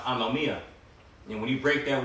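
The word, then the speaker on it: ἀνομία: And when you read that verse, because iniquity shall abound when you go into that word iniquity in the Greek, that word is pronounced anomia.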